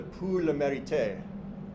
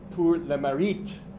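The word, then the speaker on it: Pour le Mérite: Um, and you can see he was awarded what's called the pul merit. Sorry, I mispronounced that. P Learit, which is French.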